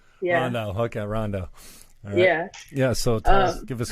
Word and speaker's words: Rondeau: think I got fine it's right Ronda yeah yeah so give us a brief mile